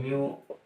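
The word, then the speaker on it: mu: ये जो इस प्रकार u की आकृति दिखाई दे रही है, ये म्यू का उच्चारण होती है। ठीक है ना, इसका उच्चारण क्या होता है? म्यू।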